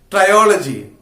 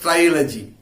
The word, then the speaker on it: trilogy: society john galsworth is best remembered for his triology triology try trilogy trilogy is pronounced trilogy there is a combination of three three novels